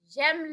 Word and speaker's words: j'aime: j'aime le fromage. J'aime. So that's how we need to pronounce that word, j'aime. Kind of like gem, Yeah. but j'aime. And then if we're looking